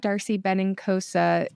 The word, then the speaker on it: Darcy Benincosa: just connect on Instagram Darcy benosa that's a very Italian name but it sounds it's spelled exactly how it sounds and inosa and if